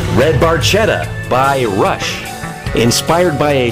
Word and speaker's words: Barchetta: The automobile, actually pronounced Barchetta, is a classic built-for-speed Italian sports car made by Ferrari, but could also be a Fiat or an Alfa Romeo.